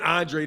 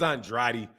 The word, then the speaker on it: Andrade: Susie it's uh nah I keep saying Andre his name is Andrade but Demetrius Andre you